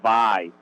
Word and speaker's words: Vay: It's called Vay, V-A-Y. But no, that's the way I always pronounced it, but it's actually pronounced Vi.